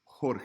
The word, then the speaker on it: jota: would write a 1 the letter J highlight is pronounced like the letter H in English so when you see a J it's gonna sound like the word hat but even stronger como Julio Jota hey